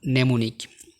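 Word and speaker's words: mnemonic: তোমরা এখানে দেখতে পাচ্ছ সাইলেন্ট এম, যেমন নেমোনিক। শব্দের শুরুতে এম ও এন একসাথে থাকলে সাধারণত এম সাইলেন্ট থাকে।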